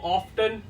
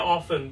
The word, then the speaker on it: often: इसको ऑफ्टन या ऑफन दोनों पढ़ेंगे तो दोनों करेक्ट है, कुछ भी चूज कर ले।